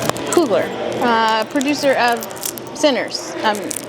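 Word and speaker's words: Coogler: Who's Ryan Cougler? Um Ryan, did I say his name wrong? Cooler.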